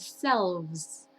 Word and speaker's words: selves: La primera es self y la segunda es selves, con V, selves.